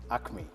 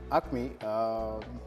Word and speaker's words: Acme: so Patrick will be telling us about umcme Acme Acme oh sorry I thought it's like okay so can you please tell us about acne Fitness training institute well uh Acme many people pronounce it like yeah you have